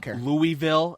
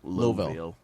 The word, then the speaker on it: Louisville: India Kentucky Louisville Boston Louisville a neighborhood in Louisville Kentucky man get the out here it's not Louisville it's Louisville Louisville louville U Missouri York uh